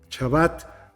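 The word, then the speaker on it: שבת: un día sagrado el Shabbat. Lo pronuncio como lo pronuncian muchos rabinos, con el hebreo clásico. Shabbat, que se traduce como sábado, en realidad significa descanso, reposo, cese.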